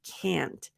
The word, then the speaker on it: can't: also reduce can't nope can't is never reduced for the American pronunciation we use the nasal a and what I mean by that is for example for the British pronunciation I can't it's a um it's a different if a different a sound for the American uh pronunciation can't so if you hold your nose can't you should feel a little bit of pressure if not I can't